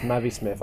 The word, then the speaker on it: MAViSMITH: Can I just say, it's pronounced MAViSMITH. I was watching some guy play Fallout the other day. MAViSMITH. No, and I said I referred to what he said, and he went, "Oh, MAViSMITH." And I meant it's MAViSMITH. Yeah, That's because the eye is little and everyone thinks.